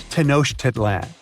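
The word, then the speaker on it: Tenochtitlan: It's Tenosh Titlan. And Mayan cities are hard to pronounce too.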